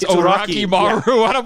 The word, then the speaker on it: Orochimaru: But no, they say Orochimaru completely wrong. They say it like dirty, dirty Americans who don't know what they're saying. They don't even try to say Orochi. It's Oraki. It's Oraki Maru.